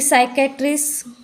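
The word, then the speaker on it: psychiatrist: से कहते हैं फिर साइकेट्रिस्ट यहां पर भी पी साइलेंट है सस के पहले आया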